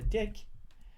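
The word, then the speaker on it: deque: is going to be double ended queue Our Deck uh our uh some guys pronounces a hack our uh is uh uh deck because uh double ended Q so we're gonna explain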